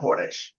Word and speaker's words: Chodesh: Like, okay, see, it has to be said like that. It's not Chodesh, which is Cha. You have to say Chodesh. Okay, Israelis, that's how they say it.